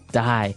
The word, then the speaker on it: dye: Dye. So it's pronounced exactly the same way as, to die, to not live anymore. Die.